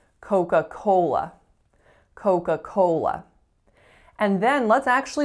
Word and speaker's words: Coca-Cola: particular languages phonology so most of my clients tends to say coca-cola with even stress and with pure vowels so it sounds like coca-cola but in fact listen real carefully coca-cola first tell me what